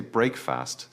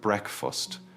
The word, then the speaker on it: breakfast: Many students try to say breakfast, separating the two words. However, in natural British English, we blend it together and change the vowel sound. It sounds like breakfast. The first syllable rhymes with neck.